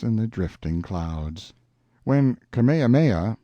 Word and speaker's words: Kamehameha: the drifting clouds when kamehameha pronounced ka-me-ha-mei the great who was